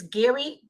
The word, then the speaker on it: Geri: On Tuesday, a former social worker, her name is Gary Murphy. Her name is spelled Geri Murphy, Murphy, who admitted she lied